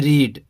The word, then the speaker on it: read: फिर नेक्स्ट लेते हैं रीड, READ रीड, रीड means पढ़ना, तो इसका वर्ब 2 क्या होगा? रेड, स्पेलिंग वही है, पढ़ेंगे इसको रेड, और इसमें भी वही होता है रेड, रीड, रेड, रेड।